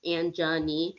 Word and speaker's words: Angenie: have to be like it's Angenie, like kind of like I'm just a knee, like it's like Angenie or Angenie because the way it's spelled, it looks it's Angenie. So if you separate it, it looks like Angenie, like a genie, So I have gone